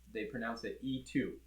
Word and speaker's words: E-TWOW: So it's E-TWOW. I believe in China they pronounce it E2. So if you want to be in the know, that's how you pronounce it.